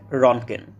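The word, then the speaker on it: Röntgen: হ্যাঁ, ঠিকই শুনেছেন, ইংরেজি এবং জার্মান ভাষায় সঠিক উচ্চারণ হচ্ছে রনগেন।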